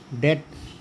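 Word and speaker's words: debt: और टी के पहले अगर बी आए तो इसको बोलते हैं डेट, डाउट, हनी कॉम।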